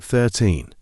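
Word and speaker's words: thirteen: on to 13 30 13 has two syllables 13 we stress the second syllable it sounds like 13 let's practice saying This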